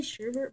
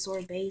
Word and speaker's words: sorbet: I say Sherbet, but the correct way to pronounce it is Sorbet, so yeah, but I still say Sherbet.